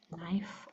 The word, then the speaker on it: knife: Then we have also have a kn that just makes the N sound as in knife or not. The K is silent in KN and the G is silent in GN.